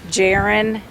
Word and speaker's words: Jarron: name is being released at this time it's jaren dejean pridgeon and i'm going to spell that for you it's the first name is